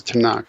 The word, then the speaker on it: Tanakh: And so Tanuk ends up just being pronounced as Tanakh.